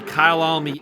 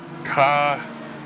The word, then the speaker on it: Kyalami: According to Wikipedia, it is pronounced, and I'm going to assume that I'm correct, it's like Kyalami. Kyalami. It's like Khaya Lami. It means my home in Zulu.